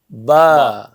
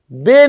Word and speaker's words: ب: تو آپ نے اسی طرح پڑھنا ہے، ٹھیک ہے. بے نہیں پڑھنا. ایسا ہی. ہاں، اردو کی طرح نہیں کرنا.